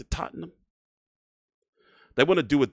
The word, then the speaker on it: Tottenham: to happen in September in uh it's not Tottenham, it's not Tottenham, it's Tottenham, right? That's how you pronounce it. Tottenham.